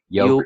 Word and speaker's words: Youku: I mean, but so first, Jerry, you pronounce this Youku, right? Yeah. Youku.